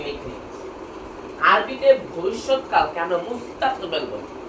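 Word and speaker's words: مستقبل: তারপর আমাদের লাস্ট মুস্তাকবিল। কি? মুস্তাকবিল। যে হালকা যে উচ্চারণ করতে যদি হালকা কঠিন হয়ে থাকে, তাহলে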